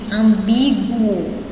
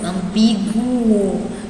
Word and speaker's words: ambíguo: Aqui, ambíguo, eu pronunciei o U, ambíguo, então o U, como foi pronunciado, significa que o GU aqui não é dígrafo, certo?